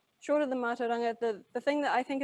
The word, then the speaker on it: mātauranga: lot, and partly because it's got the AU consonant blend, a rolled R, and an NG consonant blend in it.